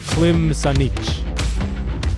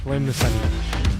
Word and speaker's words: Klim Sanich: It's the 4 is like a CH noise, so it's Klim Sanich. Klim Sanich.